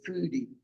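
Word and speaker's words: fody: And this is the the O is pronounced food. So this is a Madagascar red foodie, and he was after our food.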